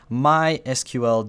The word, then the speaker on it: MySQL: check out for is MySQL databases uh or my SQL databases that's actually how this word is pronounced I know I'm probably going to get a lot of flack in the comments for saying MySQL but anyway uh yeah